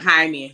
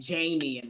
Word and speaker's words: Jaime: to black people too and it was like Jaime she was saying Jamie Jamie yeah and it's like no no that's